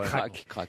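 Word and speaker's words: Crac'h: crar C a ch je ne sais pas comment on prononce c'est du breton C ch crac crac crar qu'est qu'on dit PL attendez on dit pas ploumanac ploumanac craque alors on doit dire craque c c un craque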